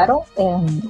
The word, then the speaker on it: Haro: Aro es con H al principio en el apellido.